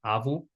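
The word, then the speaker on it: આવવું: But again, as I said in the beginning of the video, when we have verbs that have a double va sound, we actually don't pronounce the first one. So, it's still pronounced au.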